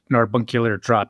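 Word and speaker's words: Narbacular Drop: Well, so um so the the idea for portal originated with Narbunkular drop. Did I pronounce it right? I too have It's a madeup word. That sounds a lot like carbuncular.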